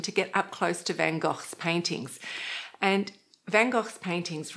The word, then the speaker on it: Van Gogh: And our third colourful artist is Van Gogh, or Van Gogh, which I think is closer to the Dutch pronunciation.